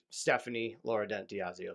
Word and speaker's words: Stephanie Lauredent-Diasio: I just had one of those, like Stephanie Lauredent-Diasio. So I pronounced that all right, right?